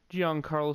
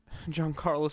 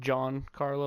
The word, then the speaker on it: Giancarlo: gonna have to keep Giancarlo Stanton. I was trying to think about how to pronounce his first name for a second. I almost said John Carlo, like John, but that's just not right.